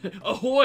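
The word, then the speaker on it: ahoj: people this is a kid they'd be like ahoy are you a pirate or some [ __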